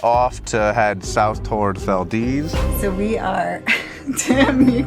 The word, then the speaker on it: Valdez: Headed to Valdez, which looks like it should say Valdez, but it's Valdez because that's how it's said here.